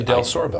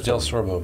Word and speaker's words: DelSorbo: oh but and it's if you just read it it's pronounced exactly like it's spelled but but it's difficult we're the only one in tennessee the only del sorbo that is i checked